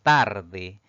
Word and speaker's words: tarde: Si dividimos en sílabas, pues tiene dos sílabas. La mayor fuerza de voz recae en la penúltima sílaba contando de derecha a izquierda. Es una palabra grave, no va a llevar tilde porque termina en vocal.